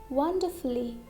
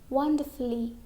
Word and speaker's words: wonderfully: Okay, now letter U is also silent in some adverbs ending with ULLY. For example, wonderfully, wonderfully. We can't say wonderfully. Okay, it's wrong. It is not wonderfully, it's wonderfully.